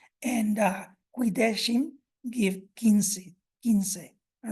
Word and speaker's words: quince: So we have quomodo gave como, and quaero or quaero in Latin gave quiero, and it was spelled with a Q and an E. And quidecim gave quince.